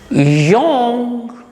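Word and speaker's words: genre: Young. See, this word is completely different from the spelling. The spelling for young is G-E-N-R-E.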